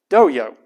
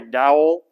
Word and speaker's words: Doyle: Nobody in Texas pronounces Doyle correctly, and I'm not exaggerating. I've been living in Texas most of my life, and they talk like this. So when they don't say Doyle, they say Dowell.